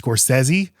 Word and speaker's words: Scorsese: I mean, the biggest issue, honestly, for me is that I know his name is pronounced Scorsesi, but the summer of Scorsesei just doesn't have the same ring as Summer of Scorsese.